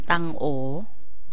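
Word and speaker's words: ตังโอ๋: ใช้ เท้า ตั้ง โอ๋ คำ นี้ อ่าน ตัง โอ๋ แต่ เวลา เรา ออก เสียง มา ออก เสียง ว่า ตั้ง โอ๋ บ๊วย เก๊ก ฮวย หนำ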